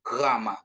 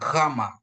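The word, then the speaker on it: γάμμα: Pengucapan Gama ini kan dia di apa? Di tenggorokan kita gitu. Gama. Jadi dia GH ya. Jadi enggak ada GH dia ya. seperti GH seperti itu ya Bapak Ibu ya. Jadi dia ee pengucapannya dia ditenggorokan kama gitu ya. Kama bukan G ya.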